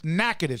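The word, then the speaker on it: Natchitoches: louisiana from naked louisiana it's not spelled that way that's the way it's pronounced aj joins us on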